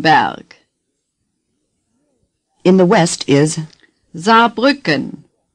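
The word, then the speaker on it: Saarbrücken: in the West is za Buchan say za Buchan you notice that the S at the beginning is pronounced like our z as in zipper za say za nothing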